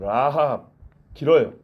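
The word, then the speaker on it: רָחָב: 라합 이렇게 간다면 여호수아의 라합은 라합 길어요. 까메츠.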